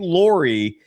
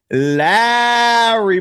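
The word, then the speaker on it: Lauri: It ain't Lori, it's Larry Markin.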